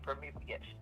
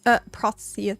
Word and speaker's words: Protheus: We're going to tame the panther at this point, so it's Prometheus. It's Protheus. Protheus.